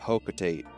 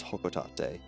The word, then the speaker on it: Hocotate: referring to it, I always just called it hocotate cuz that that was a lot easier for me. And that's also what the word looks like. However, I will do my best to refer to it as hokotate, which to be fair, it doesn't sound bad.